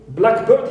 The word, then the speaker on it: blackbird: So when it is used like here, right, as a compound noun word together, right, here we stress the first part. But if you use it as a noun phrase, it means a blackbird, any bird which is black. Here I stress the second element.